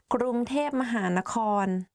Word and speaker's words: กรุงเทพมหานคร: today we are going to do top 10 hardest words to pronounce. Let's begin. กรุงเทพมหานคร Bangkok กรุงเทพมหานคร If you go to Thailand and